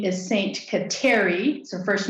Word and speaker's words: Kateri: questa is her surname i think at the time um she pronounced her name catchery but that that just sounds like the home for cats doesn't it so um so saint